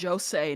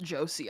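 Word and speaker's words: José: By the way, it's Jose, not Josie.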